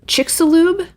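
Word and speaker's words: Chicxulub: don't know illinois no this is how you pronounce it chicks chicks lube crater is what it's called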